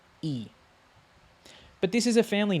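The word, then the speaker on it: 이: Now, this is not pronounced Lee, right? If this was going to be pronounced Lee, it would, like in Korean, it would have like dir, Lee, like di, This is simply just E.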